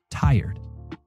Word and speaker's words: tired: The correct pronunciation is tired. We divide it into two sounds, right? Tie and red, tired.